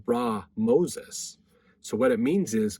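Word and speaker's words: Ramesses: Okay, now this is interesting because when we see the word Ramses, what we pronounce it that same way, Rameses. The more proper way to say it is actually Ra Moses.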